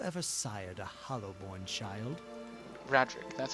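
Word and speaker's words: Raedric: Legacy have you ever sired a hollowborn child Radric that's how you say his name uh H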